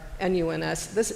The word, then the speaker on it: nones: They are the ones that are NUNS. These are the nuns. It's spelled NONES.